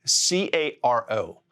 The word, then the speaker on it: caro: The word expensive in Spanish, it's spelled C-A-R-O. Now just flap your tongue on that ridge and say caro, caro.